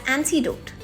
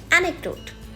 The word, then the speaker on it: anecdote: also a bonus tip some people pronounce this word as antidote it is not antidote it is anecdote thank you bye-bye